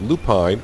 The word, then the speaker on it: lupine: We're going to go ahead and put lupine, or lupin, however you want to pronounce it, in those fields there,